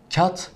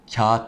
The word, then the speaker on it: kağıt: miktarı değil belki ama yarın elif miktarı uzatıyoruz kat demiyoruz Kağıt diyoruz Anlaştık mı bir başka